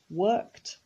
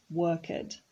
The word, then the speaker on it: worked: It's regular, so in the past we say worked, and it is pronounced worked, not worked.